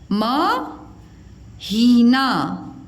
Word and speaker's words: महीना: मात्रा ही और ना मही देखो कैसे पढ़ोगे इसको म हीना महीना नाश पा त में